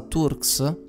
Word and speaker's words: Turks: Turks. La pronuncia inglese sarebbe Turks, ma insomma sempre detto Turks.